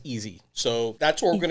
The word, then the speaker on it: EZ: argue it's e so according to an interview that I saw that he had online he pronounced it as easy so that's what we're